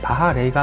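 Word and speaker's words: Baja Rey: 원래 발음은 바하레이가 맞지만 편의상 바자레이로 할게요. 팀노시의 바자레이는 1:6 사이즈의 슈퍼 바자레이와 1:10 사이즈의 바자레이가 있습니다.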